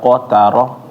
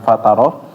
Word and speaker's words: قترة: Terus ya tarhaquha qatara bukan fataro.